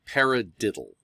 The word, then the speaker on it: paradiddle: um that's called a paradiddle and if you say it out loud pair red digital pyra digital you can see where the accents on the first syllable of that of that word so a paradiddle right